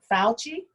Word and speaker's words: Fauci: fucci the doctor the doctor fuji if i'm pronouncing it right fauci i think that's his name from yeah the